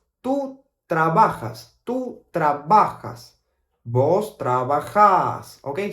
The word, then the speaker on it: trabajás: Vos trabajás. Okay, so tú trabajas. Tú trabajas. Vos trabajás. Okay, so the AS at the end, we pronounce it more like a long vowel sound.